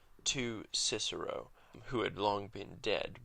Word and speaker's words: Cicero: But we know that at the time that Cicero lived, he was actually called Cicero because of Greek sources in biographies and in histories that wrote his name using kappa. And so we know that his name was pronounced without a doubt Ciceron.